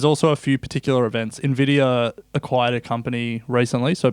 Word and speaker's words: Nvidia: it's pronounced Nvidia.